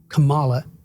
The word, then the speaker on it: Kamala: In that debate we saw a few days ago, I thought Kamala is how you pronounce it, did relatively well compared to Trump.